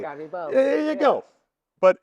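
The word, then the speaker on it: Garibaldi: You know, see how I pronounce the name? I got part Italian in me. What can I say? Gerabaldi.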